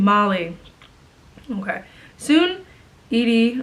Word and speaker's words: Edie: Soon, Edie, or Eddie, I think it's Edie? I'm pretty sure, I felt like it should be pronounced Edie.